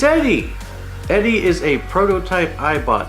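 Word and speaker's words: ED-E: the new Vegas companions now I've heard this guy's name pronounced in ways that sound distorted looking at you British youtubers I mean what it's Eddie Eddie is a prototype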